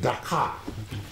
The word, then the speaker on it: Dakar: I think there is, a chasm between the two pronunciations. The first one, which has to do with Senegal, is Dakar. This Dhaka.